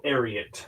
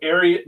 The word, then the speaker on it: Ariat: I think it's Ariel is how you're supposed to pronounce it because it's from the horse name Secretariat. Um, so Ariat, I think is what you're supposed to call it.